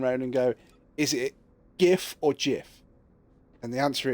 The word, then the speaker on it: GIF: Yeah, I was going to say it stands for graphic, so that's why it's a G, not a J. It's a GIF, not a GIF.